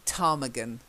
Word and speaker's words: ptarmigan: Without P in front, isn't it? Well, it's a silent P. Ptarmigan.